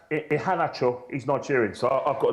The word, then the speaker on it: Iheanacho: Have you heard of Iheanacho? Do you know how many goals he scored? Actually, his name is pronounced Iheanacho.